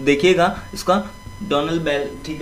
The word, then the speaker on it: Donalbain: डोनाबेल दोस्तों है ये डोनाल्ड बैन, ठीक है, डोनाल्ड बैन, यहाँ पर सही से प्रोनाउंसिएशन नहीं होता है, तो देखिएगा इसका डोनल बेल, ठीक है, इस तरीके से इसको बोल सकते हैं।